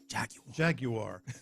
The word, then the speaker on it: Jaguar: No, you got to say it like they say it in Britain. Jaguar.